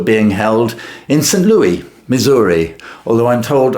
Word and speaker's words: Missouri: Louis, Missouri, although I'm told older residents, pronounce it "Mizur-uh".